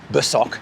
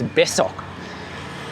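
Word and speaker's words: besok: besoc so it's an s sound not boc it's besoc yesterday is kamarin not kearin it's It's so you know I know those because I've I've obviously learned the words.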